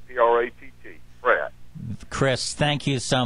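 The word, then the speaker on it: Pracht: P-R-A-C-H-T, and we pronounce it P-R-A-T-T, Pratt.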